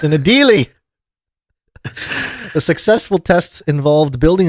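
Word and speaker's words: Adélie: I think it is pronounced Adelaide penguins. Adelaide, what did I say? That's something else. Adelie? Okay. Yeah. It's an Adelie.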